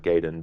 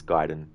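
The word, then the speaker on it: Gaiden: is it gayen or giden ammunition some folks pronounce it like gayen but it's giden ah so ninja G Ninja giden it's so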